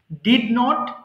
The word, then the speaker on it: didn't: যখন পড়বেন দেখেন আই ডিডেন্ট ডু আছে ডিড নট কে একসাথে যখন পড়ি আমরা বলি ডিডেন্ট এটা অনেকে ভুল করে উচ্চারণ করে ডিডোন্ট ডিডোন্ট এক্সট্রা আপনাকে কষ্ট